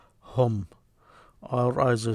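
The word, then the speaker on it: هم: You pronounce them hum.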